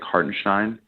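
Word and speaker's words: Hartenstein: um uh heartenstein's name he says like heart and shine yeah when he says it it yeah he appreciate the gold well Breen said on The Telecast that that's how hard Stein wants to be wants his name to be pronounced so so Breen was just trying to be correct on the enunciation Martin Stein yeah the German German pronunciation yes yeah I I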